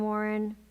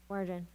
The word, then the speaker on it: Warden: And then Warren. Warden, thank you.